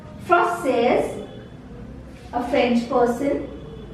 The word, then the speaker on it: française: In case of feminine, a French lady or a French woman, we say française. Till here we pronounce it and this E is silent.